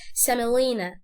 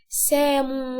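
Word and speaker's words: semolina: دي مش هنوضح نطقها، الاو دي مش هنوضح نطقها، فنقول سملينا، سملينا، سملينا، سملينا، سملينا. قول ورايا عشان مش هنقولها سامو، غلط ان انت تنطق الاو غلط. يبقى لما تيجي تنطق لي كلمة سميد اللي بيتعمل منه البسبوسة هتقول عليه سملينا مش سامو.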